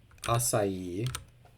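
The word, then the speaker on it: açaí: question mark there um acai is a food pronounced with three syllables cast of a play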